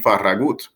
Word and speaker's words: Farragut: His name was David Farragut, or more accurately pronounced, David Farragut, whose biological father was a Spanish soldier who fought on behalf of the rebels in the Revolutionary War.